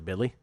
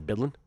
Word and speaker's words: Bidlin: I think you just hit on something there, Kelly Bidley. Eight to one. Sorry to call you Bidley twice. Uh, Kelly Bidlin, just a tribute to Matt Brown mispronouncing your name at some point.